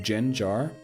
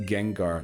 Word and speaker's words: Gengar: It's pronounced Gengar, like Genshin."